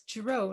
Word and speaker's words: Giraud: Giraud, am I pronouncing it right? It's Giraud, a little French.